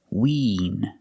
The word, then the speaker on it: wean: They really want to win the game. And this word is wean. It has the long E sound like green beans, so it's more closed. Not win, but wean.